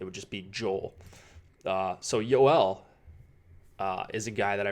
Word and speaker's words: Joel: love our Mia it's gol actually it's not Joel and that makes sense right he's not I